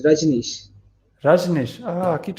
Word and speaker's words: Rajnish: Ranesh. It's Rajnish.